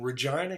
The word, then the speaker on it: Regina: Today's article details the end of an appeals process for a trial that began on July 20th, far off in Regina, Canada. Yes, that's how you pronounce that.